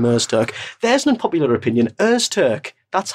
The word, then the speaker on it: Öztürk: Öztürk.